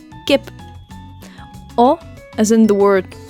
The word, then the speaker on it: Kip: as in the word Gip which means Chicken in Dutch again same pronunciation as in English Gip or as in the